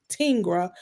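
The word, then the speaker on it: Tengr.ai: Um platform I also love tinga and it's pronounced tinga but it's spelled t n g r.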